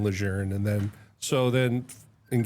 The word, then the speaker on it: Lejeune: that told me or he would kept saying Lejeune and I was like I finally asked him like "Sir, why do you why do you say it like that?"